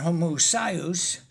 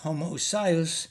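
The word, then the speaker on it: homoousios: Now, you pronounce it homoousious and I pronounce it homoousious and if I remember my Greek, I thought the emphasis was supposed to be on the uh penultimate uh syllable.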